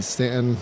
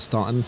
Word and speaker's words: Staunton: We stopped in Stanton in 2014 and definitely pronounced it Staunton. First timers, Yeah, I quickly corrected and kind of daydreamed about moving down to this area for about 10 years.